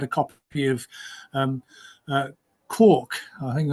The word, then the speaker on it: Quark: copy of um uh quk I think I pronounced in it quk or Quark Quark Express not corn food um and so this